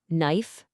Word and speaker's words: knife: Knife, know, knee, knock, knowledge, you never, ever pronounce that K.